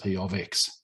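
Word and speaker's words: p(x): Change it to p of x. That's how it's pronounced, p of x.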